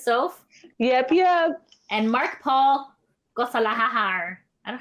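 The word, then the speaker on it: Gosselaar: And Mark Paul Gossalahar. I don't know how you pronounce it. Gosler.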